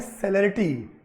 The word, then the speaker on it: celerity: वैसे इसका जो प्रोनाउंसिएशन होता है वो होता है सेलेरिटी, CELERITY, सेलेरिटी बोलते हैं इसको।